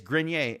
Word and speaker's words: Grenier: you spell it it's just like french or something right grenier it's just like or voir you know type of so it's grenier and rich was saying